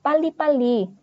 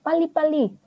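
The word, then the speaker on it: 빨리: huruf dua huruf b dibacanya seperti pa ya kayak P ada penekanannya contohnya ada contohnya ada pali mungkin karena kalian pernah denganar orang Korea ngomong paliali cepat artinya cepat-cepat gitu paliali Nah itu bacanya kayak Pa lalu yang huruf ini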